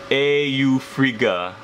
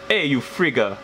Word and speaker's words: Eufriga: demon the demon's name it's pronounced Eufriga, and I kind of wrote it like a Norse or kind of Nordic pronunciation, but the way they pronounced it was Eufriga, which in like the dialect of Pidgin, which is predominant in Hawaii, is kind of like Eufriga, you friggin' guy.